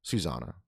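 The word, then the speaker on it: Susana: Susanna or Susanna? Susanna. There's one N.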